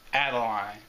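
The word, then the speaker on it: Adeleine: in the crystal shard well her name is pronounced Adeline and i'm recording this so I'll remember add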